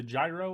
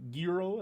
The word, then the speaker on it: gyro: euro completely or the the gyro or the giro as you know if you want to get a little closer pronunciation of it but yeah so overall in 80.